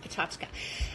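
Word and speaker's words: PechaKucha: I was invited to do this talk at Pachachka. It's this amazing, if you ever have one in your city, it's looks like Picha Kucha, P-E-C-H-A-K-U-C-H-A. It's pronounced Pachachka.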